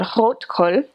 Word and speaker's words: Rotkohl: And rotkohl, which is how you would actually pronounce it, is red cabbage that's been pickled,